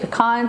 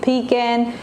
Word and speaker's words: pecan: Some people say pecan, some people say pecan.